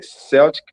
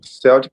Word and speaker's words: Celtic: They were the Celtic people and they spoke Celtic languages. Yeah. Good. Yeah. We we the pronunciation is Celtic. It's strange because there's a football team called Celtic, but the languages are Celtic.